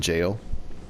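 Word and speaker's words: Gaol: believe it's called hypo and jail g a o l I think that's how it's pronounced but uh there's a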